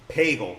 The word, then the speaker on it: Pagel: 18, last card, Mike Pagel. Rhymes with bagel, with cream cheese or lox.